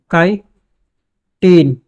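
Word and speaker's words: chitin: अगर तीसरी हि की बात करें तो काटीन काई टीन जिसकी स्पेलिंग होती है सीच का ठीक है यह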